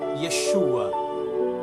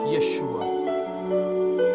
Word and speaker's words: Yeshua: um pseudônimo criado, porque o seu nome verdadeiro é o pronunciado em hebraico, Yeshua, que é o que